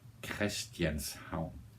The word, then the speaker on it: Christianshavn: Christianshavn.